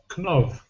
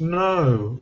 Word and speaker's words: know: People pronouncing K as well as V. Knov. Knov. How do you know that this is pronounced? No.